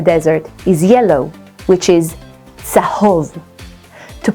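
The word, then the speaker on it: צהוב: Desert is midbar in Hebrew, and the color of the desert is yellow, which is tzahov. To pronounce the ts, try thinking of the letters T and S together.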